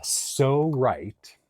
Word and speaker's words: Pso-Rite: This is called a So Right but it's spelled really funny, both words. So is spelled P-S-O, and that's because it's